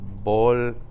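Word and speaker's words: volcanes: Bolcanes. Bolcanes. Do I need the accent mark anymore? I don't need it anymore because now I have the second to last syllable is that A.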